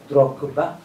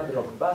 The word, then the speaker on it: Drogba: Donc Bofloto, c'est comme le nom du joueur, de l'ancien joueur Didier, on dit Drogba. C'est pas Drogba, c'est Drogba.